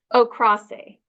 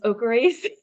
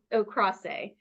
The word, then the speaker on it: Okrase: Okrase. Okrase. I kept thinking it was Okerace like for a long time, but then it's Okrase.